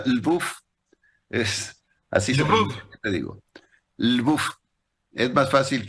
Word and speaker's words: Lwów: llama el buff lvw lw se pronuncia el buff es así es más